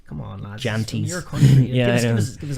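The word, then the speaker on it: Jantjies: Janties.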